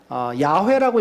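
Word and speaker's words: יהוה: 이 주라고 하는 것은 원어에 보면은 야훼라고 읽어야 합니다. 그러니까 야훼라고 하는 말의 정확한 발음을 지금 몰라요.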